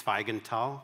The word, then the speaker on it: Zweigenthal: My name is, pronounced correctly, it's Zweigenthal, because my father was born in Vienna in Austria.